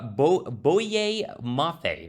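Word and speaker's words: Boye Mafe: 43 overall he goes ahead and takes uh bo bowie mafia that's how you say his name and i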